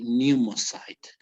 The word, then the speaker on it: pneumocyte: here it's like the the p is silent and you just say pneumocyte okay so this